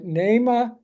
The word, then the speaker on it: Naima: the name of the album I hope I pronounced her first name right NE Bach n a i m a and she